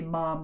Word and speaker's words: ma'am: and it was like you say, ma'am rhymes with jam.